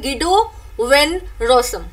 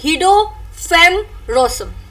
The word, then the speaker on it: Guido van Rossum: Okay, agar aap English mein pronunciation karenge to is aap bologe Guido van Rossum, right? Aur agar aapko Dutch mein isko pronounce karna hai to aap bologe Guido van Rossum, right?